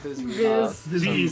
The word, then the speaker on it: Viz Media: Viz Media. Yeah, Viz Media. It's pronounced with an E, but it's spelled with an I.